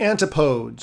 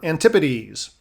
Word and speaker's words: Antipodes: According to this theory, there should be a second continent on the other side of the world, the Antipodes or Antipodes. Either pronunciation is fine.